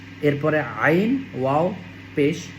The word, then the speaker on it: ع: এরপরে আইন ওয়াও পেশ উইনের উচ্চারণ গলার মধ্যখান থেকে দুই নাম্বার মাখরাজ আমরা যারা এটা বুঝি